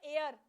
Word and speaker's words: heir: अच्छा, फिर ये वर्ड हमारा आता है एयर, HEIR।